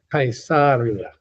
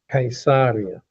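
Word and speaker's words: Caesarea: Now, Cesaria Maritima, the correct pronunciation of this, by the way, is Kaisaria. Kaisaria but Cesaria Maritima or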